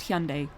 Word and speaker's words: Hyundai: And they've had like a whole ad campaign recently just being like, no, it's pronounced Hyundai. We're doing it properly now. We are not going to be the silly white people anymore. We are going to pronounce it the way it should be pronounced.